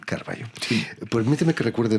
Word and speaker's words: Carvalho: LHO, pero como es portugués, la LH se lee L, entonces se pronuncia Carvalho. Carvalho.